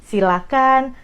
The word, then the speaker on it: silakan: bedah dulu dari pronounciationnya jangan pakai ha itu yang paling penting jadi silakan persilahkan jangan pakai itu dari pronounciationnya nah kalau dari katanya